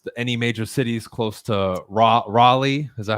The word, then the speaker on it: Raleigh: So real quick, driving distance, any major cities close to Raleigh? Is that how you say it? Raleigh, exactly.